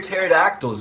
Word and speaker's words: pterodactyls: Why can't you hear pterodactyls go to the bathroom? Because the P is silent.